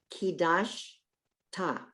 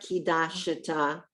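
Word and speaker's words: קידשת: Look, kidash ta. Kidash, it's not kidashata, it's kidash ta.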